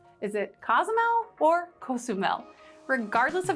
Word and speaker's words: Cozumel: just got back from, which is Cozumel. That's how I choose to pronounce it.